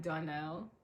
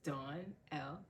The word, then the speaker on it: Darnell: name is Darnell, and I have my name split into two to make it easier to remember how to pronounce it and spell it. So it's Dawn L together.